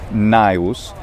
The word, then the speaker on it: Gnaeus: pronunciations of the gn initially it was probably just a plain n sound naius because that's what varus